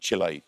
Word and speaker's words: Chile: So I was told specifically by the English-speaking South Americans that I was saying it wrong and I needed to call it. It's not Chile, it's Chile.